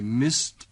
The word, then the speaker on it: missed: Dengarkan perbedaan ucapan dari bunyi akhiran tadi. I missed. The meeting ended. Missed. Ended. Bunyi yang terakhir, ejaannya sama, yaitu ed, tetapi ucapannya berbeda.